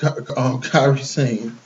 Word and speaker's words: Kairi Sane: Yeah, but she jumped Kairi Sane.